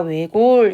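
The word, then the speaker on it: 외곬: 이 단어는 아마 모르는 친구도 있을 것인데 이것은 우리가 외골 이렇게 읽어요.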